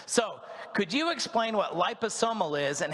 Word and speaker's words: liposomal: This is liposomal. So if you look at the top word there, liposomal, that's how you say it.